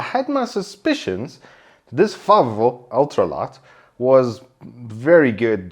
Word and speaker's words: Favo: As I said, in front of me is the Arozzi Favo. Okay, that's actually how you say it, with a bit of an Italian flair.